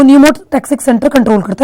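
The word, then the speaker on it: pneumotaxic: याद रखना कितना इजी है, पी से पॉन्स, पी से न्यूमोटैक्सिक। इसको पन्यूमोटैक्सिक नहीं पढ़ना चाहिए, पी साइलेंट है, ठीक है, पर पी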